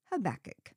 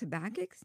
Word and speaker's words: Habakkuk: well I guess it's no secret how I pronounce it since I said it in the title habach in the course of writing this study I discovered there are more ways to pronounce habach name than I ever imagined including habac and